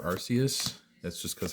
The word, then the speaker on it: Arceus: Also, how do you say Arceus? Do you say Arceus? Do you say Arceus? Do you have some other unique way that you say it? As you heard, I prefer Arceus.